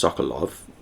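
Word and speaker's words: Sokolow: by the name of Dr sokolo may be pronounced sokolov at least the spelling here as l-o-w at the end was cited to saying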